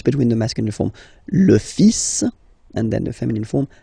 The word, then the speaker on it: fils: So it's le, and then even if you've got this L, well, basically you don't pronounce it, and then strangely you pronounce the final S. Le fils. Le fils.